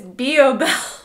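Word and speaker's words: belif: my YouTube channel and I've been pronouncing it Biel but it's boel of course I've been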